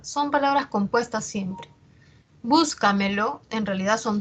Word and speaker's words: Búscamelo: Entonces vemos aquí que la mayor fuerza de voz está en la anterior a la antepenúltima sílaba. Búscamelo.